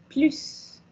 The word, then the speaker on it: plus: Mais quand vous les posez à la fin, quand on va au final de la phrase, non comme négation, donc se dit plus.